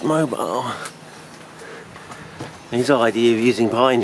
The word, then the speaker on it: Mobile: It's not Mono, it's Mobile.